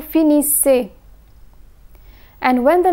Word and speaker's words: finissez: EZ is pronounced as A. Vous finissez.